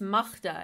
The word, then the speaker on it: Magda: us you know who's who's i say it's magda actually that's how you pronounce it yeah i don't like my own